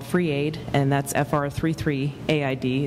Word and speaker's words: FR33: 100% Bitcoin charity called Free Aid, and that's FR33AID. It's pronounced free but spelled FR33.